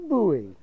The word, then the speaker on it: buoy: he is a big buoy it just sounds like boy but you don't pronounce it boy it's buoy this is the Matthew